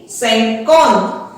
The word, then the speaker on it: cinquante: Next आएगा 50, सैंकॉन। अब आप देख रहे हैं जो वर्ड्स हैं हमारी पिछली काउंटिंग से ही बन रहे हैं, सैंक उसके आगे हमने लगा दिया ऑन, सैंकॉन।